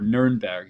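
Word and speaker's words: Nürnberg: this map but uh it's called nurmberg or nerber in uh is how they say it in German uh and the City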